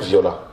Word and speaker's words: Viola: Viola, comme ça s'écrit, comme ça se prononce. Comme ça s'entend, comme on l'entend. Donc, V-I-O-L-A.